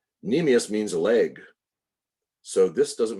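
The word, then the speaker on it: cnemius: make sense and then nemus spelled with a c c NE m i u s but C silent nemus means leg so this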